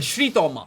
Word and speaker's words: श्री तोमा: ठीक है, श्री तोमा, that's how you pronounce it.